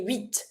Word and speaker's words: huit: So, it's fine to skip the T so that you have just one consonant to pronounce, which is the first letter of the following word. huit mars.